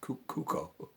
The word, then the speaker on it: Cuoco: But the main thing, Mike, getting back to my point, Kaley Cuoco is Cuoco. I believe that's how you pronounce her name, and God bless her.